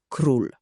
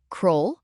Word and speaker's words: król: Zapamiętaj, u zawsze czyta się jak u. Nigdy nie czytamy tego jako o. O, jak u. Bardzo łatwe. Sprawdźmy słowo król. Król.